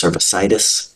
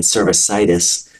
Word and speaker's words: cervicitis: of the cervix it's cervicitis so again the C can be hard or soft in cervic codia it's a c k sound in cervicitis it's the S sound Hyo Metro and utero